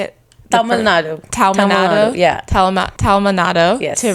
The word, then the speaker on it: Tamil Nadu: So you moved from Talamud. Is that how you say it? Tamil Nadu.